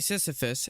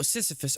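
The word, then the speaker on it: Sisyphus: Didn't really Why you saying Seephus?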